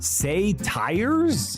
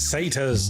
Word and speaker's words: satyrs: It's pronounced Einherjar. Say tires? It's satyrs.